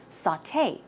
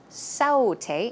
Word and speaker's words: sauté: or preparing food and it's pronounced sauté sauté it's not saute it's sauté and recipe you may